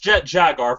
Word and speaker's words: Jet Jaguar: Jet Jet Jaguar thing is Jet Jaguar it's pronounced Jet Jaguar first of all second of all Jet Jaguar